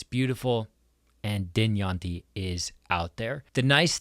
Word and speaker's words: Dynjandi: We've got Dynjandi. Dynjandi.